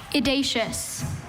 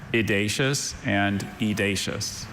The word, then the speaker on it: edacious: Idacious. Are there any alternate pronunciations? There's edacious.